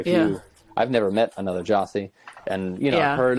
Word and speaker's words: Gyasi: is a pretty common one it's pretty rarely jazzy pretty much anything other than the way it's actually pronounced what's the origin of your name jossie it's from ghana africa okay the pretty traditional